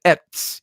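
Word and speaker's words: עץ: And the Hebrew word for tree is etz, E-T-S, it's pronounced.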